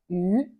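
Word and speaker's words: 鱼: Le poisson a la même signification que l'abondance en chinois, car la prononciation est la même. On s'appelle yu.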